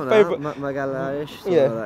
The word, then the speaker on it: Magalhães: Is that how you pronounce it, Magalhães? Yes, a favourite. Magalhães.